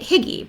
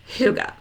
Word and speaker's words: hygge: I just started calling it higgy because that's what it looked like to me and it wasn't until I don't know I bought my first book about it and there was like a little pronunciation in part of it or I watched a there was a segment on a show about it that I learned that it's actually pron Ed Huga so I was a